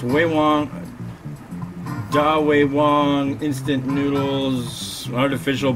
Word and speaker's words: Ve Wong: Like Wei Wong. No, that's pronounced Wei Wong. I found out while I was in Taiwan. And it's Wei Wong, Wei Wong, instant noodles, artificial premium garlic pork flavor.